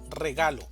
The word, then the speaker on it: regalo: Regalo. Regalo también tiene tres sílabas, una sílaba tónica y dos sílabas átonas. La mayor fuerza de voz va a estar en la sílaba ga, regalo, regalo.